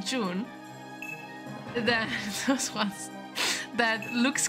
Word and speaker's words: June: June. Yeah, it's pronounced June.